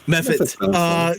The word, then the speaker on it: mephit: Is it mephit? Mephot? Mephit.